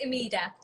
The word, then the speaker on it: Umida: pronouncing your name wrong how do i pronounce it it's amida amida yeah hi and welcome